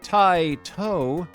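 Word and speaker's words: Taito: Space Invaders the programmers at Tio pronounced Tito were the masterminds behind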